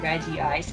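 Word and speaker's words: Regice: be always pronounce it regie ice I mean that is the Japanese pronunciation to be fair and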